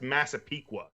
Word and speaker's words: Massapequa: up it is but it's pronounced Massapequa I want to hear you guys pronounce it